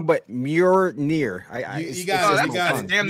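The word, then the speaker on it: Mjölnir: I'm going to pronounce it wrong, but Mjolnir. You got it. That's damn near right. Mjolnir.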